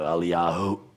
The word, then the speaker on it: Eliyahu: So if it's a waw, you're going to stop at a oo. You didn't go anywhere with it yet. So Eliyahu, that's all languages like that. You stop on the last letter, you start from the first letter.